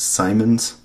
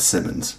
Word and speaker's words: Simons: I've been pronouncing Churn Simons wrong. That is my bad. I don't think when I speak sometimes it's Simons, like not Simmons, right?